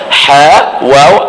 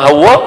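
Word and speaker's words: حواء: nama dia Siti Hawa ejaan dia ha wau Alif Hamzah Hawa bacaan dia nama siapa nama Hawa ha kita duk sebut hawa hawa hawa hawa sebutan dia Hawa sebutan dia macam tu jangan Pi Eja nama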